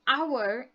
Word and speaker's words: hour: u r so if when we say an hour it sounds like we start with the letter o okay so that's what